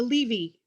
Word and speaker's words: Levy: There are, for example, the Levi, L-E-V-I, and the Levy families with a Y, the Meyer families, M-E-Y-E-R, and the Meyer family, M-A-Y-E-R, and both were pronounced Meyer.